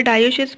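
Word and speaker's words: dioecious: ठीक है, स्पेलिंग पे नहीं जाइएगा, डायोशियस बोलते हैं क्योंकि इनके पास दो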